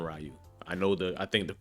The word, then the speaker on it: Ryu: We call him Ryu. I think the correct pronunciation is Ryu, but we call him Ryu.